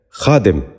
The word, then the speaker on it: خادم: پہلا لفظ ہے خادم۔ یہ غلط تلفظ ہے، درست تلفظ ہے خادم۔ دوبارہ غور سے سنیے،